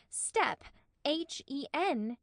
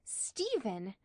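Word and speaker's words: Stephen: of one syllable and I read the name Steven wrong I used to read it s t p step hen hen step hen is Steven enter Steven his head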